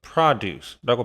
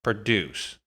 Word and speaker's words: produce: 여기 써 있는 것처럼요 단어가 명사 역할을 할 때는의 강세가 찍혀요 그래서 발음을 라고 하는 겁니다 그때는 농산물이라는 뜻이 돼요 생산이란 뜻을 가지지 않아 그런데 얘가 동사로 쓰이면 여기 에다가 강세가 찍혀요 그래서 produce 이런 식으로 발음을 합니다 그때가 동사로 생산하다 뜻이